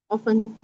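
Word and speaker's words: often: ऑफन यस वे ऑफेन is right words in some pronunciation it is said S ऑफन as well like some take the टी S silent and some do नॉट so there is no conflict in between you कैन से ऑफेन एंड ऑफन both it completely depends on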